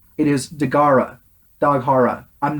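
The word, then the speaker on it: Dagahra: So our two kaiju this time we have the ocean dragon Daghara. They don't say his name right in this terrible dubbing. They changed it to Dagharla.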